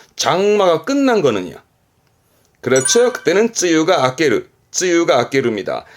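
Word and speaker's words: 梅雨: 발음은 바이유. 이 바이유 음독의 경우는 이렇게 해서 장마 전선을 말하는 바이유젠센 정도만 쓰게 되고요. 이 장마를 말할 때 바이유는 요 정도고 주로 쓰게 되는 케이스는 쯔유. 장마는 흔히 쯔유합니다.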